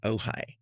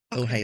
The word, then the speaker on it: Ojai: Um I grew up in a little town in Southern California called Ojai. Ojai is spelled o j a i.